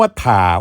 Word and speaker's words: ถ่า: เสนอ คำ ว่า ถ้า คำ ว่า ถ่า ออก เสียง ว่า ถ่า ครับ ถ้า มี สอง